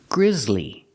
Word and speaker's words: grizzly: this is gri Griz the S is pronounced with the ZZ sound like zebra with vibration Z Grizz Grizzly two syllables not Grizzly